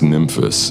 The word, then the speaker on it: Nymphes: the dreadbox nymphus and i'm pronouncing it the greek way sounding sort of like memphis a city in the u.s it is a compact